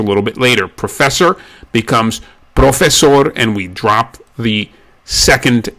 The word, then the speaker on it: profesor: So professor has one S sound in it. It's profesor. If you had the double S sound, it would be professor. which is not the correct pronunciation.